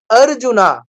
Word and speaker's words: অর্জুন: করে অ আছে তো সংস্কৃতের নিয়ম হচ্ছে কি আমাকে শেষের অক্ষরটার সাথে অবশ্যই অটা বলতে হবে অবশ্যই আ টা বলতে হবে আমি বাংলায় বলব বানর বাংলায় বলবো কি বানর সংস্কৃতে বলবো কি বানারা বাংলায় বলি রাম সংস্কৃতে বলবো রামা বাংলায় বলি অর্জুন সংস্কৃতে বলবো অর্জুনা আপনারা খেয়াল করবেন ইংলিশে